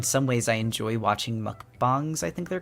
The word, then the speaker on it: mukbang: any explanation mukbang it's Korean that's what it's going to say mukbang okay I was right we just got